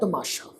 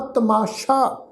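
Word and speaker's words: ਤਮਾਸ਼ਾ: सत्संगत जी ख्याल रखो, तत्ता मम्मे नूं कन्ना, सस्से नूं कन्ना। इस शब्द का उच्चारण करांगे जी तमाशा।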